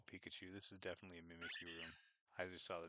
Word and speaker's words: Mimikyu: is because it, like, Mimikyu is so clearly how it's supposed to be, but the anime is always Mimikyu, like me cute or something.